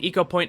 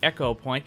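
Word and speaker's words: Ecopoint: quick trip back to eco point Antarctica and yes it is eco point not echo point I kept saying that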